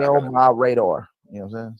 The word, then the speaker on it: El Mirador: It's like my radar. I got it. Okay, El my radar.